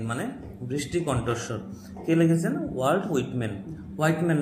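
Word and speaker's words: Whitman: অফ the rain মানে বৃষ্টিকণ্ঠস্বর কিন্তু লিখেছেন ওয়ার্ল্ড হুইটম্যান হোয়াইটম্যান না এটা হুইট হুইটম্যান হোয়েটম্যান ঠিক আছে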